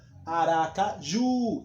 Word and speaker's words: Aracaju: sem acento por exemplo Aracaju olha Aracaju tá vendo que o o o ju é a sílaba mais forte podem cobrar não tem